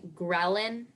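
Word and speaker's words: ghrelin: use it in a sentence the secretion of gin increases appetite and what is the definition a peptide hormone produced predominantly in the stomach and am I saying it correctly grin yesin and what was the part of speech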